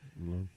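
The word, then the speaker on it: Lorde: Is that how you say her name? Lord or Lord Day? Lord. Yeah.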